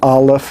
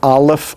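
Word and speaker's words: א: the printed form next remember that aleph all by itself has no sound it is a silent letter and as a silent letter you would never find it pronounced in any way at the beginning the middle or the end of any word next we have the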